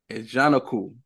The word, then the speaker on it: Ajanaku: So Ajanaku.